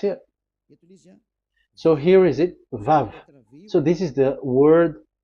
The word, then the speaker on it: Vav: So it's V as in Vogue. So it's really V. How to read Vogue? So the word, the shape Vav is really pronounced V, like Vogue.